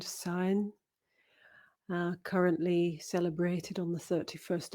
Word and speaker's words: Samhain: As I said, it's my favorite, Samhain, often pronounced Samhain, but it's actually the MH is a kind of silent sound, Samhain.